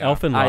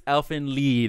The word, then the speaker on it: Elfen Lied: author of Elfen Lied, I think is the correct way you pronounce that. It's not Elfen Lied? I think it's Elfen Lied is how you're supposed to say it.